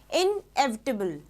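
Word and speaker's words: inevitable: इसकी प्रोनाउंसिएशन भी आप देखो। इनएविटेबल। है ना? Never pronounce it strongly.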